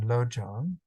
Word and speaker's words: lojong: a little more detail the Tibetan term lojong is composed of two syllables Lo and Zhang no stands for mind